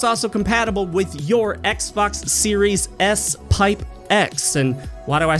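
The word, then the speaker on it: Xbox Series S|X: also compatible with your Xbox series s pipe X and why do I say pipe because that's how you pronounce that character it's the pipe character which has virtually no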